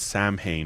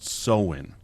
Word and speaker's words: Samhain: Long before Halloween, there was Samhain, or what is actually pronounced Samhain.